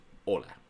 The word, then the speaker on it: hola: Hello is a hola. Okay. The edge do not pronounce have any pronunciation. So just don't pronounce make any sound we pronounce edge.